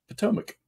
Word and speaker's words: Potomac: Potomac. That's what it is. Potomac. Well, we got schools around here that are spelt well with a K at the end, and they're called Potomac.